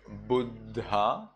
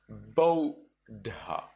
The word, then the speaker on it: Buddha: So when you have U followed by two consonants, U followed by DD, well then you read it instead of Buddha, you read it as Bodha.